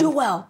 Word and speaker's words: Joel: He's like, no, it's Joel. It's Joel. But it's so interesting because that name, Joel, exists in many languages. Yes. So they were just putting their accent on the wrong syllable.